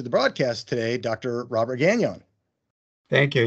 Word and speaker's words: Gagnon: And you've given a sort of French pronunciation to the name, which is okay. Gagnon. is the way it should be pronounced, but we've bowed to the English-speaking world and we say Gagnon.